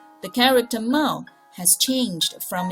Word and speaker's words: 帽: But the point is that its pronunciation is 帽, which is the same as the whole character itself. So one part representing the meaning and the other part representing the pronunciation. The character 帽 has changed from its